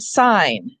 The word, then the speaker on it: sign: this is interesting because we have the noon sound in the word sign fine but related to it is the word signal and there we pronounce the g signal or a signet ring